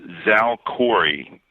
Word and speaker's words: Xalkori: I believe it's pronounced Xalkori. The middle three letters are ALK, so they had to work that into the name somehow.